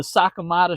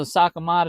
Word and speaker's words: Sakamata: talk about uh the Sakamada Shad by Depths. Um, excuse me. I don't want y'all to roast me cuz I said it wrong. But anyway, um, this is a Sakamata shad.